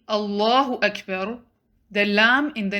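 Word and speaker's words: الله: saying allahu akbar make sure when he's saying allahu akbar the lamb in the name of allah should be pronounced heavy allahu it shouldn't be read as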